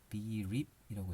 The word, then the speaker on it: BR34P: BREAP이라고 읽어요. REAP로 대신해서 BREAP이라고 읽고, 요것도 백서 내용에서 보겠습니다.